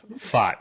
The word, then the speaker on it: Pfaadt: But I call him Fart because it sounds like, but it's Fart, yeah.